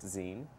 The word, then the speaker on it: zine: a podcast that the meltdown produces called it's pronounced zine mm-hmm but the fact that it's called that